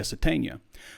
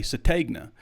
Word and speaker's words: Sategna: pronunciation real quick because the pronunciation guy says isaiah satania yet i hear players coaches say sategna so i've gone back and forth and i need to just ask isaiah but we can't talk to the freshmen so it makes it a little bit difficult but i'm going with satania that's what the press guide pronunciation says okay so we're going